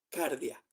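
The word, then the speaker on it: καρδία: Se dice cardia, que de ahí viene cardíaco, de ahí viene cardio corazón. De justamente la palabra griega viene a nuestro hablar el corazón. justamente esa se dice así en pronunciación en griego no soy perfecto pronunciando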